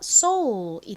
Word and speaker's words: soul: 발음은 S가 세게 쌍시옷 발음이 나고 OUL은 무슨 소리 나죠? O 소리 나죠? 그래서 soul이 됩니다.